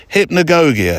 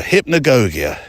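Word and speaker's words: hypnagogia: looked it up I've listened to various YouTube pronunciations of it hypnogogia hypnogogia it's defined as the transitional state between sleep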